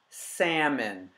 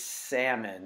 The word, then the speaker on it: salmon: bought four pieces of salmon say with me salmon it has a silent ill English is the funkiest language ever sorry but it's salmon and you can look up the etymology of